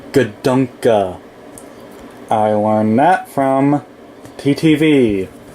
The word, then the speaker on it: Gadunka: Um um but um the actual way to pronounce his name is Gdunka.